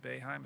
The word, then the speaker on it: Boeheim: And I used to, whenever Jim Boeheim, is that how you pronounce it?